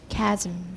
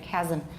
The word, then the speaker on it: chasm: Chasm. I have no vowel there. Chasm. I could say chasm. Some people say chasm, so I could have a vowel there.